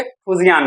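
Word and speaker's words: Fujian: उसका 3rd aircraft carrier जो अभी कमीशन हुआ है, अभी चल रहा है काम उस पर, फुजियान, उसको अलग अलग लोग प्रोनाउंस करते हैं। ओके, फुजियान नाम है।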